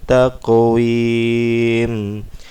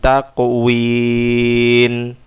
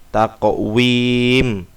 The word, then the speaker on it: taqwim: Khalaqnal insana fi ahsani taqwim. Ini juga qalqalah. Taqwim. berakhiran mim, jangan nun. Kadang-kadang saya menjumpai takwin, takwim pakai mim.